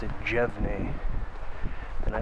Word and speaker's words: Jevne: And I don't know if you pronounce it Franz Jevne or Franz Jevne. Instinctually I pronounced it Jevne, but the lady at Big Bog State Recreation Area pronounced it Jevne.